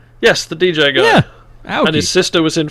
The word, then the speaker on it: Aoki: Like, they got Steve Aoki in to go and do some shit with fucking alternative medicine. Is it? Aoki, yeah. Oh, okay. I pronounced the DJ. That poorly. Yes, the DJ guy. Yeah, Aoki.